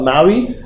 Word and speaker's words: MAUI: This is called MAUI. MAUI stands for Multi-Platform App UI. The P is silent because MPOWI sounds like you're punching somebody.